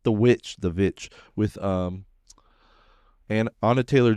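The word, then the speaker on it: VVitch: That's how they originally pronounced witch with two V's instead of of W. It's Vitch.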